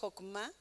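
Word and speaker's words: חכמה: una palabra que es hebrea y que se pronuncia hokma que es significa la sabiduría pero la sabiduría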